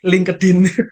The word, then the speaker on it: LinkedIn: lidah orang Indonesia aja lidah orang Indonesia yaitu apa ada dua link kedin link kedin jadi benar-benar diucapkan sesuai dengan huruf-hurufnya link tergantung sarapannya Bos tergantung